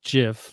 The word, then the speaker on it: GIF: friend mark confirms that the guy who created the gif pronounced it jiff like the peanut butter so so i was